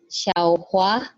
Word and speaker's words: Xiaohua: Nah, ini bacanya Xiaohua, Xiaohua. Jadi ini yang ketiga, xiao xiao oke xiao xiao hua oke.